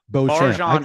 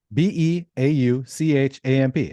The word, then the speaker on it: Beauchamp: Beauchamp. I can spell that for you if you want me to. Yeah, go ahead and do it. Beauchamp. It's just beautiful and then champ.